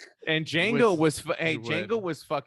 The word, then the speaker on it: Django: was Didn't he do Django too? Or was Yeah. this- yeah. the D is silent. And Django With was hey, Wood.